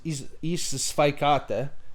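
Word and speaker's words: į sveikatą: Yeah, because it's isvaikata, so the spike is in there, but as you just say spikes instead of isvaikata, which would be the proper way to say, which means to your health.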